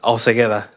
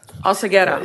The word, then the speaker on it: Alcegueda: and please help me, how do you pronounce your last name? I'm going to Alcegueda. Alcegueda. Yes. You say it right.